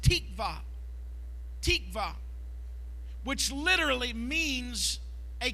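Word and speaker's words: תקווה: One of the Old Testament words for hope is a Hebrew word that is pronounced tikva.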